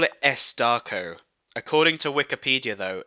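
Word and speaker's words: S. Darko: so I call it s darco according to Wikipedia though it's officially it's officially pronounced s dot Darko because there's a film there's a there's a full stop after the S um for this [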